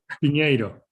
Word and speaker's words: Pinheiro: You have to pronounce it in Spanish. Pinheiro. Pinheiro.